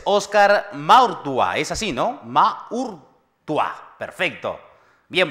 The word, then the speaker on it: Maurtua: Maurtua. Perfecto. Bien pronunciado, entonces, para quienes ahora nos están viendo